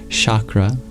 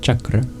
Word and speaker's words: chakra: those energy points you might have heard it pronounced chakra but properly it's pronounced chakra there are innumerable little Loops of awareness all